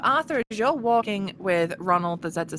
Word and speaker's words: Rzzzozzznald: And so, Jesus, Ronald, the Zed is silent, leads you out of the house, and he sort of starts to spurt you down the streets.